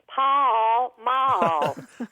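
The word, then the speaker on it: Pall Mall: after that you know in Texas we make everywhere at least two or three syllables so we would say Paul Maul bye I quite didn't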